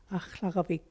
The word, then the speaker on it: Aklavik: bear and grizzly, and the proper pronunciation for it is Aklavik.